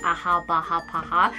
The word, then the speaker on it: AHA BHA PHA: They actually pronounce it Aha Baha Paha. Sorry if I'm being really Korean right now, but it's AHA, BHA, PHA 30 Days Miracle Cream.